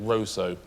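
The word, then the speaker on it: Roseau: not a pointless answer they actually pronounce it Roso spelled Russo or Roso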